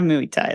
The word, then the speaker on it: Muay Thai: we're That's gonna because have I- Muay Thai then. In this bar. Yeah, it rhymes with Louis.